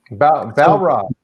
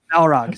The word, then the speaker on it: Balrog: Balrog, right? Is that how you pronounce that? Balrog. Balrog.